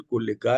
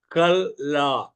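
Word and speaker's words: כלה: मूल भाषा में कल कल ला कल आ उसको मैं स्पेलिंग बताता हूं आपको के ए एल एल ए एच कल ला कला नहीं बोलने में कला मत लिखेगा कल ला के ए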